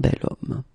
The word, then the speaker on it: bel homme: if you look carefully, you've got H here, okay? And it's not a vowel at all. But then in French, we don't pronounce it.